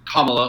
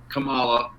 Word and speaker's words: Kamala: going to be kamala harris her name is pronounced kamala yep kamala um and and jason i'll go ahead and